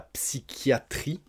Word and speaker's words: psychiatrie: Ensuite, pour les petits problèmes dans la tête, on va dire, c'est la psychiatrie. Alors attention, P-S-Y, on prononce psy, c'est pas facile, et le CH, on le prononce que. Psychiatrie.